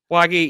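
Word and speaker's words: Wague: Mohamed Wagi. is how you say Wagi, yeah, he had no chance against Mark Mitchell.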